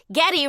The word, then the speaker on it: Goede: So, I was going to make it like Getty rhymes with spaghetti or like That's it.